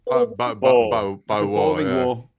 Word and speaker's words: Boer: You think it's different, Graham, but it's Boer War. Boer War full of balls.